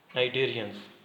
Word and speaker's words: Cnidarians: Arthropods, worms, मोल्यूसस, sponge and नाइडेरियंस Cnidarians with a silent C and yes काइनोडर्म्स।